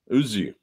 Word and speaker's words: Özgü: You don't pronounce the G. You swallow the G. You swallow. Ozzy.